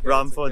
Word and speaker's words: Braamfontein: I know I have trouble pronouncing some of the Dutch names here. It's okay. Braamfontein.